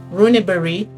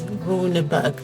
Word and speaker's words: Runeberg: Please note that I'm pronouncing his name in Finnish. In English you'd probably read it as Runeberg.